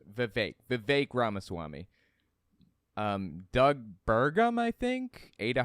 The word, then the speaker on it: Vivek Ramaswamy: Sorry, his name's pronounced Vivek Ramaswamy.